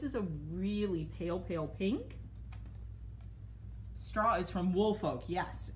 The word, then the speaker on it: Stra: I think it's supposed to be pronounced straw.